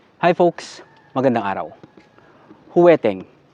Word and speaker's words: jueteng: Hi folks Magandang araw huweteng we pronounce weteng sa Tagalog Ito ay laro ng